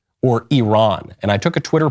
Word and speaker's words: Iran: last 20 years Iran because that's the way that the Iranians themselves pronounce it but I think okay